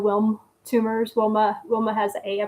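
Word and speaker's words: Wilms: I think that's how it's pronounced. It doesn't have a on it. It's w i lm. So Wilm tumors.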